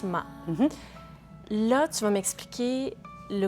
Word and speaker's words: Ma: Et dis-moi, Ariane, Ma, parce qu'on le prononce Ma.